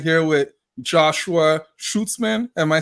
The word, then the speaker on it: Schuetzmann: Huddle guys so I'm right here with Joshua schutzman am I saying it right I hope I I said it right not too bad it's schutzman but that I'm used to uh mispronunciation so it's not bad at all okay